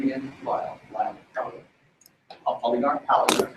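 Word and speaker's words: Palagar: Polygar. Polygar. How do you spell that? P-A-L-A-G-A-R. Pretty much the way it's expected.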